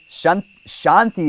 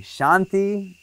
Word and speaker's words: Shanti: Lakshmi it's incorrect Lakshmi Shanti is a long a so you can put a line over that a Shanti no line over the